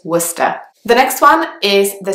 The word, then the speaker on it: Worcester: next one is Worcester again it's quite a strange pronunciation because there is an O and an R and a C and an E in the word but only one of those sounds is pronounced so remember is Worcester the next one is